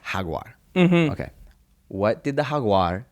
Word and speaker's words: jaguar: uh so all right in Spanish a Jaguar is pronounced Hagar okay what did the